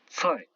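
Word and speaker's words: 菜: Le C qui se prononce ts. Par exemple ici un légume, tsai.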